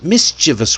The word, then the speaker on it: mischievous: Three syllables. That's it. Three syllables. But look at all the letters in this word. A lot of people, even native speakers, even myself sometimes, we say it with four syllables. Mischievous. But that extra syllable doesn't belong there.